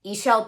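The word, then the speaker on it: Ixchel: mean like actually woke ishel prisma spelled like the goddess e shell i-x-c-h-e-l she's amazing has great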